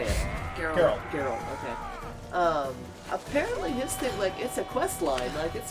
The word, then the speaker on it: Geralt: Geralt.